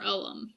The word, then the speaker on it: Ogham: supposedly brought along to the people um so it's spelled a little bit differently you have ogam versus o-g-h-a-m for oem and ohm's interesting because in a lot of